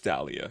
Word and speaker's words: Dahlia: It's Dahlia. It's Dahlia. Before I even press the thing to hear him say it to my for me, I was like Dahlia, yeah.